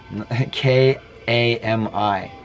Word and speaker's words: kami: K-A-M-I. I don't know how else to say it, because that's how you pronounce it.